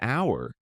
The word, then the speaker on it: hour: Like an hour. It starts with an H, but we don't pronounce it.